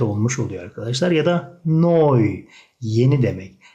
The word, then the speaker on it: neu: Ya da Neu. Yeni demek. EU'ya oy koyduğumuz zaman ne ile birleşince noy şeklinde okunuyor arkadaşlar.